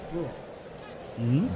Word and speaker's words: Bruihl: Am I pronouncing that name properly? It's Bruihl. Brule.